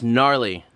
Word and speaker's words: gnarly: are like oh yeah gnarly that's k-n-a-r no no no no it's gnarly it's g-n-a-r silent g um anyways yeah you